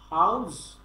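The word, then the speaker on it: how's: হাউস, হাউস মানে ওখানে যে বাড়ি, বাড়ি একটা হাউস বলি না আমরা, সেই হাউসটাই বলবেন, উচ্চারণের সময় এটাই বলবেন।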